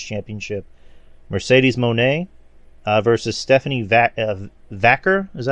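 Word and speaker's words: Vaquer: Mercedes Moné versus Stephanie Vacker. Is that how you say her name? Vakir.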